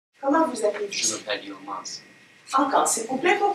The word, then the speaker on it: Yilmaz: J'oppose S et Z entre mas et maz en sensibilisation à la discrimination auditive. Maz. Mas. Y- Mas. Y-I-L-M-A-Z. Yilmaz.